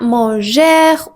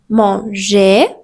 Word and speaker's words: manger: Le R à la fin des infinitifs n'est jamais prononcé. Donc ne dites pas manger ou aimer ou regardè, c'est faux. Vous pouvez dire tout simplement manger, aimer ou regarder avec